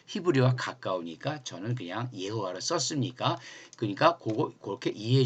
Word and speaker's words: 예호와: 자를 같이 써죠 예 그렇다고 예수를 여수라테라스 여호와로 발음하는게 좀 더 그 히브리어와 가까우니까 저는 그냥 예호와 썼습니까 그러니까 그거 그렇게 이해해 주시면 되는 거예요네